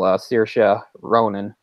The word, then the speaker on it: Saoirse Ronan: I know pretty well Saoirse Ronan that is how you pronounce her name by the way it's a very odd very strange strangely spelled Irish name I'm glad you did